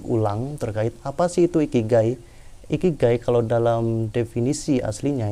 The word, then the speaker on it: ikigai: terkait Apa sih itu ikigai ikigai kalau dalam definisi aslinya itu berasal dari kata iki dan Kai bacanya gy itu berasal dari Jepang